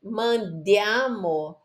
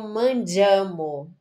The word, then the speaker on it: mandiamo: Eu fico pegando no pé da pronúncia, mas é muito importante. Porque ao invés dela ler mandiamo, ela leu mangiamo.